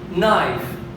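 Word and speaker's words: knife: على سبيل المثال عندنا كل كي، طبعا كقاعده كل كي يجي وراها حرف الان تعتبر الكي هي مجموعه خاليه لانها لا تلفظ، والكلمات التي يتواجد كي وراء حرف الان مثل هذه الكلمات. نايف، اذا نلاحظ باللون الاحمر اللي كتبته اني لانه حرف الكي هنا عندنا ما يلفظ، اذا نايف، نو، نولج،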